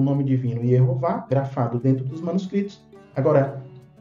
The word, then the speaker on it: Jeová: na língua delas então em língua portuguesa nós vamos pronunciar Jeová inglês jehova e italiano